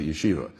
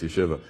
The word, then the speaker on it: yeshiva: from Chicago because the most people pronounce a yeshiva all right so that's incorrect it's you Shiva and they took this